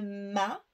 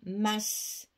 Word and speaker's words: masque: masque et chez nous on prononce le S on dit pas un mât parce que ça c'est un mal de bateau nous on prononce toutes les lettres donc on dit masse et un masque bah